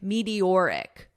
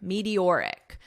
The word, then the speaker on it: meteoric: We end with the strong or sound, meteor, meteor, and then you just add the ick, meteoric, auric, meteoric. So careful with that pronunciation.